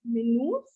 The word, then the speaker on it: minus: minus 2 yeah so for minus we have the word as menus only the pronunciation changes spelling remains the same minutes we have for